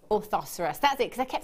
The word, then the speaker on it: orthoceras: from the workshop and told me how to pronounce it and it is or oh hang on orthoceras orthoceras that's it cuz I kept thinking that sounds